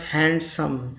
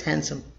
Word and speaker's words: handsome: They don't care about D here, the D sound. They pronounce handsome. Handsome. That's incorrect. The correct is handsome. British English, they pronounce it handsome. Handsome. You don't need to really pronounce D.